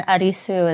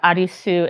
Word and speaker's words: Arisu: And Arisu is... Means Alice, which I just found that out. Yeah. Arisu is I don't know that either. I literally... It's literally just a Japanese pronunciation of Yeah.